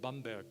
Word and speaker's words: Bamberg: And I was born May the 9th, 1958, in a gorgeous German city called Bamberg, to use the proper German pronunciation.